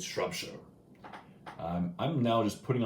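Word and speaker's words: Shropshire: Shire and you know you don't pronounce it shrub Shire it's shrub show I'm I'm now just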